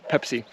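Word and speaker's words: Peipsi: spelled like this pepsi but everybody uh it's pronounced pepsi you know i was actually planning on drinking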